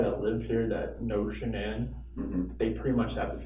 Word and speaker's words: Shanann: And I don't want to pronounce her name wrong, Shanann? Shanann.